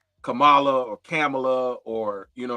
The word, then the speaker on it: Kamala: pronounce it, like Kamala, like with the C-O-M, like a calm, you know what I mean?